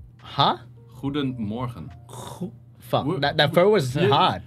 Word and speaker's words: goedemorgen: We have the G, we have like, which is like a strong G, which is G. Yeah. Damn, I thought my language is hard. No, well, your language is pretty. That's like choking on a choking on Zach. Oh, exactly, dude. What? No, it's actually like the best explanation is like you put water in your mouth and you go, that kind of stuff. Like, morgen.